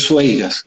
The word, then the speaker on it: Sueiras: Octavio Pernas, tu otro apellido es Sueiras, ¿no? ¿Se pronuncia así?